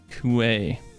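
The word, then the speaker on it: Kui: You pronounced Ki wrong. Is it Kooi? Why? Got to give my webcam app a second. It's turning on. Kuay.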